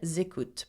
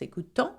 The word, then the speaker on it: écoutent: And elles écoutent, plural, feminine only. Elles écoutent. Now notice that the ending ENT for il and elle are not pronounced écoutant or another way. They are écoute. Okay? In effect, je, tu, il,